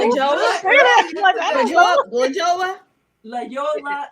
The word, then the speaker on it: La Jolla: La Yola. It's Jolla. Yeah. But it's La pronounced Jolla.